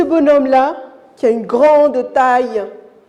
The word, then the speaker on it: grand: là qui a une grande taille grand très bien vous n'avez pas prononcer la lettre d ou bien la console